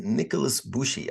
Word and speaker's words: Nikolas Bushi: here today is Nicholas bushy I didn't quite pronounce it Nicholas bushy I think I got that right is that